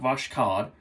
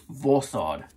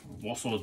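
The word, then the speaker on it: Voskhod: It's not Voshkod. Or Voshod, it's Vosod. Yeah, the K is silent. Ooh, I learned that from the Peaceful Shaver. So we are going to be doing that today. Vosod DE Blade.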